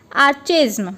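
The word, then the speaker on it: archaism: सबसे पहले इसका प्रोनाउंसिएशन है आर्केज्म।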